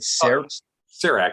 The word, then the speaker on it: CEREC: of that that machine or system is it cerec it's spelled c-e-r-e-c it's an acronym that stands for